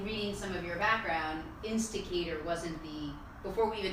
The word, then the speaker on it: Insticator: Zach is the founder and the CEO of Instigator. Yeah. Am I pronouncing it right?